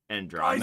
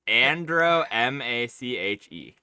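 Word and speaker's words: Andromache: the son of Hector and I can never pronounce his fucking wife's name. Andromeda.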